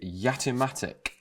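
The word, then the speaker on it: Jatimatic: the word this is the yatimatic spelt with a j and that will be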